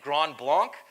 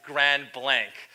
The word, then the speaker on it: Grand Blanc: faces thinking no it's Grand Blanc right you can you can use the English pronunciation for that but as I mentioned